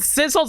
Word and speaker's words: Sissel: about the fact that Sissel's a cat. Also, now you're thinking about how Missile rhymes with Sissel?